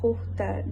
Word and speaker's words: Qatar: It's pronounced Khokhtar.